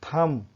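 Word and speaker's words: thumb: और next is थम, थम अंगूठे को बोलते हैं, थम नेल जैसे बोलते हैं ना, तो थम मीन्स अंगूठा होता है।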